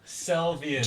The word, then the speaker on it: Selvian: Just, I kept saying it wrong. It's Selvia, Selvian. but Tell me. it's Selvian. Selvian.